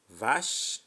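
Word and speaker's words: vache: you we move on ch is pronounced as ish c h is pronounced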